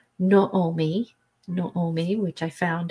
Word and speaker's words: Naomi: bit then we have Naomi Naomi which is pronounced Naomi no Omi which I found out in researching